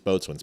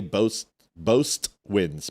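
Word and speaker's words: boatswain: It in in in the United States Navy, it's boatins made. Um or you can say both winds made. It depends. I've heard it both ways, but boats made is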